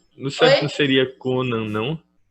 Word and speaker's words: Conan: não seria Conan, não? É porque o acento, o nome dele é Conan, não é Conan.